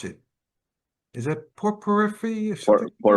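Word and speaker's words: porphyry: Is that the pore por I couldn't pronounce it is that poor periphery or something? Perfree.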